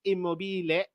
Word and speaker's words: Immobile: anything but immobile and I know that's not how it's pronounced in Italian it's immobile but I had to